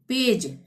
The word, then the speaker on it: page: PAGE, जी के बाद क्या आया? ई, तब भी हम ज का ही उच्चारण करेंगे। पेज, पेग नहीं, पेज।